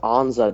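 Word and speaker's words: Ansah: Ziggy yeah but it's his last name is pronounced Anza not Anza or some whatever Stu said because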